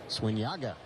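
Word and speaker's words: Zúñiga: So when Yago's on the mound, he spells his last name Z-U-N-I-G-A. Pronounce Swinyaga.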